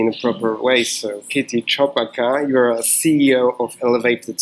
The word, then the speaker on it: Kitty Chopaka: So am I pronouncing your name Yes. in a correct way? Kitty Chopaka. Kitty Chopaka.